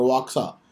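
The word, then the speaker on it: Oaxaca: minister reference तू D reason of हक और वाका सा ठीक है वहां का प्रोनाउंस करते हैं हम इसको एक्स इस प्रोनाउंस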